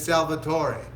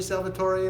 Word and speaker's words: Salvatore: this, his name is Salvatore. That's my Spanish version. Not Salvatore, Salvatore, because I'm sure he's watching from Italy, and that's how you say it in Italian. How do you say Salvatore in Italian?